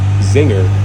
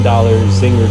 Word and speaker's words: Czinger: Today we're going to talk about the 4-year-old California startup car company, Czinger, which claims to produce the most technologically advanced hypercar. The C in Czinger is silent.